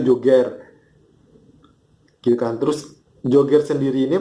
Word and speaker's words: Joger: gitu kan jadi m bacanya ini Joger bukan Jogger ya guys ingat bacanya itu Joger julukan terus joget sendiri